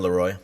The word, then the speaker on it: Laroi: Yeah, and some of like the newer names, like the Kid Lowry, is that how you say it? The Kid Laroi.